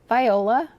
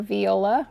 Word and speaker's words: Viola: This here is Hoya Viola, or Viola, whichever you prefer, however you prefer to pronounce it.